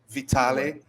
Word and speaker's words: Vitale: you pronounce your name alex vitale vitale or vitaly vitale with professor alex vitale